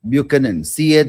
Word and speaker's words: Buchanan: It is pronounced as not ch but c sound not b butenin but bucan.